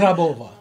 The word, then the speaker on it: Grabova: Ladies and gentlemen, Miss Grabova. Did I say that right? You said it right. Am I supposed to roll the R? Oh, that was so good. Grabova.